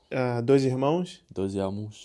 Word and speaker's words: Dois Irmãos: Dois irmãos.